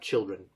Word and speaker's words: children: And then the last thing, children. Yeah, make sure not to add the S there.